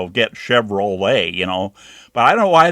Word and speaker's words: Chevrolet: over there, and they, LET is let, like let Johnny come back inside, or something like that in a sentence. So if you had that, then you'd know it would be let, but then it goes Chevrolet.